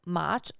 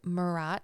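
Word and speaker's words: Maat: Isfet is the opposite of Mat, and sometimes Mat is pronounced as Marat in Egyptian, depending on where you're reading or who you're talking to.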